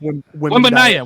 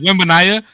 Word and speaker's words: Wembanyama: Bro, you could be Wembanyama? put- What? Wembanyama. Wembanyama. That's his fucking name.